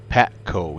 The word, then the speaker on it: PACO: PACO, yes.